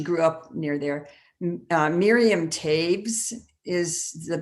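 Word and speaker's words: Toews: um or she grew up near there miriam tabes is the pronunciation it's of t o e w e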